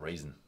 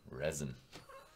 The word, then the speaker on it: resin: you a raisin smell no not raisin resin that's how you pronounce it resin smell raisins no